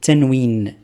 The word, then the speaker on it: tanwin: On a dit c'est tanwin. Tanwin, c'est-à-dire on va entendre le son n à la fin.